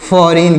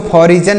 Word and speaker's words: foreign: FOREIGN, तो इसे क्या पढ़ेंगे, देखिएगा यहाँ पर जी जो लिखा गया है यह जी, यह साइलेंट है, इसे नहीं पढ़ा जाएगा। इसे क्या पढ़ेंगे, इसे पढ़ेंगे फॉरिन। क्या पढ़ेंगे प्यारे मित्रों, इसे पढ़ेंगे फॉरिन, इसे पढ़ेंगे फॉरिन। FOREIGN, यहाँ पर जी साइलेंट है, हम इसको फॉरिजन नहीं पढ़ेंगे, फॉरिजन नहीं पढ़ेंगे, फॉरिन पढ़ेंगे।